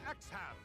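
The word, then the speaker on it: Exharme: chosen by lots minister xham and lord walford make ready for combat x-ham it's like you don't even pronounce the r in there yeah we get roland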